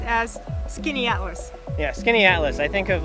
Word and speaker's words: Skaneateles: They have a place on one of the Finger Lakes that is spelled like this. It looks like Skaneateles. That's what we thought. Show you my hat. But it's actually pronounced as Skaneateles.